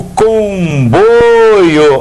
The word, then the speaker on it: comboio: O comboio, olha lá, comboio, olha a sílaba tônica, essa daqui é paroxítona, só que o ditongo agora, oi, é de timbre o quê? Fechado, então não tem acento.